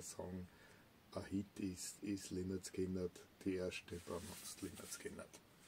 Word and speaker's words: Lynyrd Skynyrd: Lynyrd Skynyrd pronounced. Lynyrd Skynyrd.